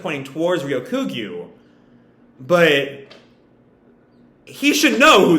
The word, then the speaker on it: Ryokugyu: me look up how it's supposed to be pronounced uh ryokugu there we go um i warned you not